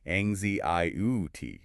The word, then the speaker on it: anxiety: It's pronounced an Z t. That X makes a G's sound like an eggs. Anzy T, not an Z or an Z.